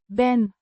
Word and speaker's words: Ben: First person singular present tense form of the verb zane to be pronounced Ben. Similar to Ben in English, it indicates the present state of being.